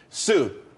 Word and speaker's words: tsū: Sue, TSU. It's pronounced Sue though.